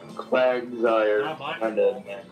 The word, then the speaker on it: Quagsire: Quagsire's name is just Quagmire, sire, which means Lord.